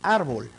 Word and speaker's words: árbol: llana o grave tenemos la palabra árbol es decir en la penúltima sil las palabras esdrújulas son